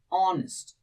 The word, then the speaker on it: honest: So pronunciation matter. We say it honest.